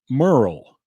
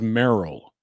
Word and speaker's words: Merle: I want to apologize in advance because Dan Rather, for some reason, pronounces Merle as Merle, or Merrill. I think he says Merrill in one of these clips anyway. And I say Merle. Dan Rather says Merrill.